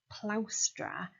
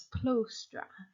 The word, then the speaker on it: plaustra: O vowel in it, he used to admonish Vespasian for pronouncing plaustra as plostra, because that made him sound as if he wasn't speaking the standard variety of Latin, so it made him